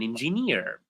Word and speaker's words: engineer: My cousin is an engineer. Notice, is an engineer, right? So it's near, which is the correct one.